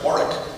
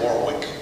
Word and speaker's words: Warwick: Mark Mich economic press always said West wari uh he did not say Warwick that is an older pronunciation but I think that's dying out now well let me let